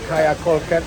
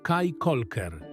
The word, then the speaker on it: Caye Caulker: Utknęliśmy na wyspie Kaja Kolker. Nie Kaja Kolker. Kikoker. Ja nawet nie umiem tego wypowiedzieć. Kikoker. Kolker. Prawidłowa wymowa nazwy tej wyspy to Kaj Kolker.